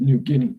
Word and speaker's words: New Guinea: It's pronounced New Guinea. Anyways, New Guinea.